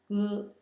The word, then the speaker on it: 哥: Your older brother is called 哥哥, 哥, it means older brother, and it's pronounced G-E, 哥, in the first tone, and your younger brother is called 弟弟, 弟弟, and it's pronounced in the fourth tone, 弟.